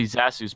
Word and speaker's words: Zasus: you oh my okay fun fact it's actually he's a soos but people always mispronounce my name so I've started screwing up pronouncing my own name really yeah oh you